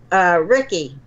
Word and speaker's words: Ricci: In 1972, this man named Benjamin Rickey, and it's spelled Ricci, and this man happened to be a famous author.